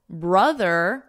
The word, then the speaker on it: brother: And then brother, now we have that So mother, brother, they're both members of a family. You can remember that vowel is that brother, brother.